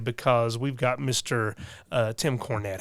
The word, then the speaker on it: Cornett: So how do you pronounce it? I am and forever will be Tim Cornett.